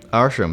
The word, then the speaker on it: Arsham: Arsham, that's how you say it, Arsham.